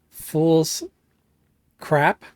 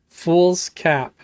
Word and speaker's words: Fool's Cap: Fool's Cap. Okay. Hi Fool's Cap, how you doing, man? Alright, here we go. Sorry I accidentally called you Fool's Crap. That was a mispronunciation on my part.